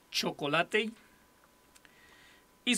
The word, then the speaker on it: Chocolatey: que se llama chocolate se escribe así como chocolate pero termina en y chocolate chocolate y su página oficial es